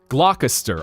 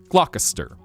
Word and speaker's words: Gloucester: Apparently it in New England is pronounced Gloucester. Gloucester would be how they pronounce it in New Jersey.